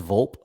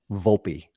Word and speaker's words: Volpe: Short Stops last name I thought it read as volp to me but I I discovered volpi which is they just it's the offense that Anthony Volpe that is I think the goofiest way you can pronounce that last name and that's just a